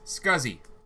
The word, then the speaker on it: SCSI: And SCSI is scuzzy.